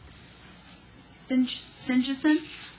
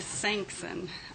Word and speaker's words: Sanksen: next question next person sincheson i bet i butchered it my name is sanksen i am a pharmacist